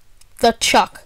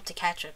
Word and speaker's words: Tkachuk: seasons, as well as the Chuck. I believe that's how you pronounce it, Matt. I call him Tkachuk, but I'm pretty sure that's wrong.